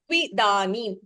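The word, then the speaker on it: त्विदानीम्: सुखं त्रिधानीं त्रिविधम् And there is no mahaprana. Tvidanim. सुखं सुखं त्रिधानीं When you pronounce, you're saying dha. Tvidanim. okay Dha. It is okay just dha.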